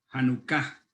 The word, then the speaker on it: Hanukkah: La palabra dedicación es la palabra que en hebreo la palabra es Hanukkah, con acento en la segunda A, Hanukkah.